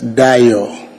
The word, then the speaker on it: Dayo: The name is Dayo. It's spelled first name D-A-Y-O.